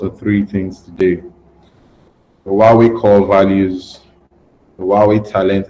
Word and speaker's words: Huawei: I would have been, I would have flogged him if he was pronouncing it as Hawaii or something else.